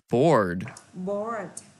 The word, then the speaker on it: bored: Bored. Các bạn có chữ R cong lưỡi lên.